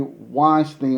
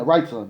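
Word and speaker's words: Wrightson: said righton I mean right son yeah instead of saying righton I was saying Weinstein now that um I was saying it wrong the whole time so thank you everyone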